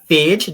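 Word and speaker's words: Fage: the early analyses of Phage. That's how you pronounce his last name, Yeah, right?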